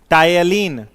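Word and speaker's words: ptyalin: लार में टायलिन, PTYLIN, P silent है यहां, टायलिन या सैलिवरी एमाइलेज, टाइलिन या सैलिवरी एमाइलेज इंजाइम पाया जाता है, इंजाइम पाया जाता है।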